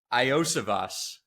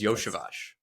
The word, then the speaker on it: Iosivas: And if you think it is Iosivas, it is not. It is Yoshivas. Very bizarre pronunciation to his name.